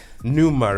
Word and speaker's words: pneuma: for that um assumption then um but yeah pneuma right that's your first project is that how you pronounce it yes explain the word and because